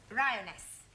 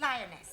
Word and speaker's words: lioness: of the following lion roness lioness roness no l l r r you're not saying it right very sorry I know try saying roness lioness good well in future